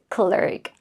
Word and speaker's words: clerk: but uh here why because I usually pronounce it as clerk you know e and r together it is um I think it is much easier to remember that is longer just like her so this is clerk